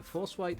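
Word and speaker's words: Forswhyte: Uh, Force White is spelled F O R S W H Y T E. F O R S W Y T E. Uh, h Y. Ah, yes. White.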